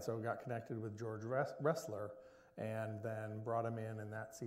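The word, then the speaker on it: Roessler: Russ, is that pronounced? Wrestler? Wrestler.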